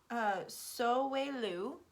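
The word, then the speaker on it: Sowilo: okay this rune so so way Lou is how you say it the letter is s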